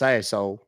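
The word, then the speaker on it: Sassohl: SS o h l it's pronounced Sayo can you repeat your last name please yeah s a s s o h l you mean sashole sashole yes ma'am and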